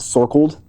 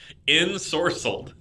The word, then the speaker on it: ensorcelled: Ensorcelled? Is that how you pronounce that word? Is that sorcled? No. Ensorcelled.